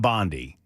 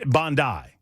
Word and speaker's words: Bondi: It's not Bondi. That's wrong. It's not like Pam Bondi. It's Bondi. It's Bondi.